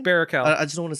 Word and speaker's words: Baruchel: Baruchel. I just don't want to say. I just don't want to say it wrong. Yeah, Baruchel.